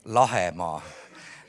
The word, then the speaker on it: Lahemaa: If Lahimaa translates as land of bays, or Lahemaa in Estonian right pronunciation, then Soma translates as land of mires.